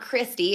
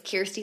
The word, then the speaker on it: Kirsty: It's not Christy, it's Kirsty like an ear sound.